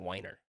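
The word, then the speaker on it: Weiner: with this last name spelled that way but we pronounced it whiner so okay I know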